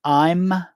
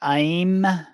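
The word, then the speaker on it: ऐं: In English, people pronounce the mantra in many ways. It can be I'm, or I'm, or Aim, or Aing. I use the Aing pronunciation myself in honor of my Kriya guru, Mira Pandey of Varanasi, India.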